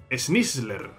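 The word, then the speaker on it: Sneasler: Te guiará hasta donde se encuentra Snizzler. Snizzler, ¿no? Es la pronunciación.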